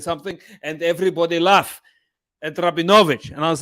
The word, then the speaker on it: Rabinowitz: will pronounce you as rabbinovich it's actually it's and it's got the emphasis like cosa is got the emphasis on the second last syllable so it's rabinowicz um nick thank